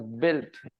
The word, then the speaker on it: built: buil buil building builds U is always silent there is a u